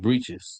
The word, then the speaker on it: breeches: It's pronounced breeches.